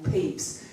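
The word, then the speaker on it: Pepys: name of the restoration Diary of Samuel peeps is not spelled like what it sounds but I didn't know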